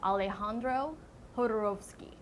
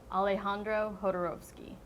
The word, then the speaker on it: Alejandro Jodorowsky: His name is Alejandro Jodorowsky. Alejandro Jodorowsky. Not Alejandro Jodorowsky, or Jodorowsky. Alejandro Jodorowsky.